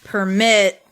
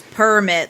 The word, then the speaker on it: permit: yeah so I think the emphasis is like permit like it's on the last syllable if it's a verb versus permit like all of those